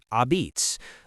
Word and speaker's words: Apizza: In New Haven, Connecticut, pizza goes by the name Apizza, pronounced abitz, a word rooted in the southern Italian dialect of the immigrants who settled there.